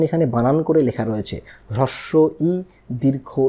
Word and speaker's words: হ্রস্ব ই: রকম সমস্যার মধ্যে পড়ি কেউ আমরা একে বলি হস্ই কেউ বলি দীর্ঘই ইত্যাদি ইত্যাদি তাহলে এই যে এটার সঠিক উচ্চারণ হচ্ছে হ্রস্ব ই দীর্ঘ ই দেখুন এই বইয়ের মধ্যেই রয়েছে তাহলে